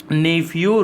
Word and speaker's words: Neiphiu: Governor वहाँ के RN Ravi, और CM है नेफ्यू रियो। इसकी मैं स्पेलिंग लिख देता हूँ, NEIPHIU, और सर नेम है इनका रियो, RIO।